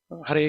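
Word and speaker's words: Hare: calling out Krishna so clearly we have to pronounce Hur Krishna Hur Krishna Krishna Krishna Hur Hur Hur Hur Hur Hur so the beginning the pronunciation is very important clear pronunciation no no need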